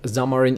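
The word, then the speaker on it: Xamarin: So when you for example um are looking for a Zamarine developer, you know that Zamarine is used for mobile app development.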